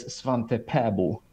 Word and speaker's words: Svante Pääbo: extrañas que tiene, en su país natal, en Suecia, en el sueco de su país de nacimiento, su nombre es Svante Pääbo. Es Bien. porque tanto esas A con puntitos como la O se pronuncian en forma diferente. El sueco tiene 9 vocales. Así que Pääbo, pero vamos a decirle Pavo para hacerlo más fácil.